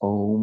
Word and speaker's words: Om: three be mantras a so it's om in its older instantiation the the Au together and then the an the nasal sound at the end so we're going